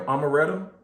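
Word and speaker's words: Omeretta: Amaretta? Amaretta? Amaretta, like the drink.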